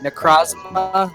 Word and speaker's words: Necrozma: That's how I pronounce it. Necrozma. Necrozma.